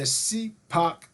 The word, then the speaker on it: SIPOC: So remember, it's the CPOC framework. It provides a solid structure for asking questions during a Gemba walk, and it's spelled SIPOC.